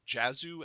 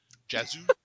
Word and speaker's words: Jazu: the pronunciation is correct it's jazzu as in like jazz music o jazzu yes okay okay ja